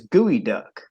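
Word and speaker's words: geoduck: name and the pernette the correct pronunciation is gooey duck right but when you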